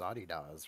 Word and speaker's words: adidas: way and ray's like hell no that's adidas yeah well it's a german company and it's adidas right it is it's it's it's adidas that's not true that's